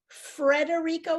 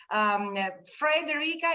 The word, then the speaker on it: Frederica: Federica without the R is Italian or maybe even Spanish. Frederica is more like Anglo-Saxon, like way to pronounce and to have like the name. I suppose that the name is from Denmark, I think comes from there. So it's Fre, but then in Italy it became Fe.